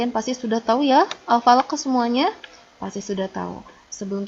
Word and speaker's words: Al-Falaq: Begini ya, kalau tidak memantul, Al-Falaq ini dibacanya Al-Falaq. Nah, itu tidak memantul. Itu salah. Yang betul adalah Al-Falaq. Nah, beda kan? Ada di akhirnya ada ke-nya begitu. Nah, itu adalah pantulannya. Jadi bukan Al-Falaq, tapi Al-Falaq.